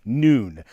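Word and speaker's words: נון: bad joke it was a Hebrew letter pronounced with a long o like noon here you can see one of my historic Scrolls Taurus scrolls with the letter noon now very rarely the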